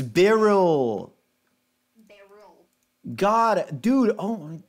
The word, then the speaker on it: Beryl: There is a difference in pronunciation. One is Beryl, Beryl. The other is Beryl. It's subtle, but I don't think Doug's brain understands subtlety. Yeah.